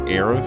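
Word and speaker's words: Aerith: See, her name is spelled so weird that you wouldn't think to pronounce it as Aif. The Ae is just weird.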